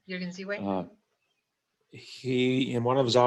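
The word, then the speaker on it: Jürgen Ziewe: Is that how you Yes, pronounce his name? Jürgen Ziwe.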